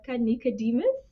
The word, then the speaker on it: Nikodemus: okay uh hi everyone my name is nikodemus nice Nicodemus it's spelled Nike demos though I'm just saying I